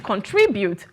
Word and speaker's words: contribute: always that thing that the last syllable is what we stress is contribute do you understand there